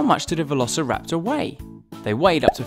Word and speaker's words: Velociraptor: dynasty by Tyrannosaurus Rex let's learn all about Velociraptor how do you say that again fer la